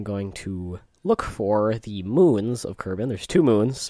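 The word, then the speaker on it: Mün: and then i'm going to look for the moons of kerbin there's two moons there's the moon pronoun spelt not pronounced spelled m and then the u with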